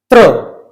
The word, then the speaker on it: त्र: ऐसे ही इसका उच्चारण है आधा त और र, मतलब त्र।